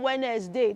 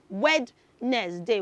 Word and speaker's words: Wednesday: W's Day Children H now note that that word has a silent letter D so you're not going to say d there is not D in that day of the week so we don't say wedness day wedness day uh mm- nope